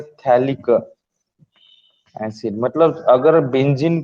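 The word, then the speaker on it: phthalic: Name याद रखना है थैलिक एसिड। मतलब अगर बेंजीन को एडजेसेंट कार्बन पे ऊपर दो सीओएच हो गए, इसको थैलिक एसिड बोलते हैं, पी साइलेंट है इसमें, ओके।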